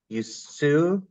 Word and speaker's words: Usui: Dawn's diverse background includes, I'm going to mispronounce this, Dawn, Usui? Usui.